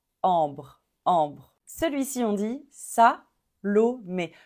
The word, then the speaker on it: ambre: B r BR ambre ambre on prononce pas le le E final on prononce pas du tout on s'arrête à au R ambre ambre celui-ci on dit